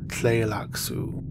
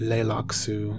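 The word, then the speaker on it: Tleilaxu: interesting pronunciations of this word but it is pronounced relax ooh or play locks ooh play lacto clear locks ooh or play locks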